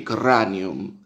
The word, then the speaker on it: cranium: así porque exagero en el latín clásico se pronunciaba así corran yum es como que la erre se pronuncian un poquitito más más fuertes que ahora no bueno